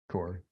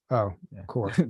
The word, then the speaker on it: Corps: Corps. You don't pronounce it. Corps.